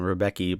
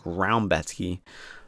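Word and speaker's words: Rębecki: I call him Rebecki, but I think they pronounce it like Raumbecki. Don't know how the Polish pronunciation works too well.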